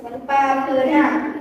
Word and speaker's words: papeda: Empat, Papeda. Papeda, bacanya papeda.